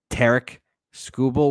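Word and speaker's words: Tarik Skubal: I was like, that's oddly cheap for Tarek Skubal, which I learned apparently that's how you're supposed to say his name. It's Derek with a T.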